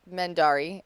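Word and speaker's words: Mendarii: hi um I am mendari uh all over the Internet which is spelled m-e-n-d-a-r-i-i there's two eyes at the end very fancy yes um but people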